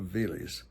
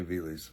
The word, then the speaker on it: Veles: I'm going to say Veles, v e l e s, on the Vardar River in North Macedonia.